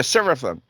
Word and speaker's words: Seraphim: Is that how you pronounce it? Seraphim. Oh yeah, Seraphim.